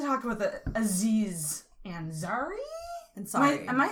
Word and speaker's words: Ansari: Yeah, I never Ansari. say his last name. It's like sorry, like okay. Indian. I'm sorry. And okay. Yeah. Sorry, like how Americans say sorry.